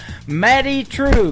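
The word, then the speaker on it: Madye Trew: It is M A D Y E on her first name and True is spelled T R E W. Matty True.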